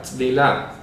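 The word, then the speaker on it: טבילה: Pero esa palabra griega baptismos lo que hizo fue intentar traducir la palabra hebrea tzvilah. ¿De acuerdo? Tzvilah. Se pronuncia así.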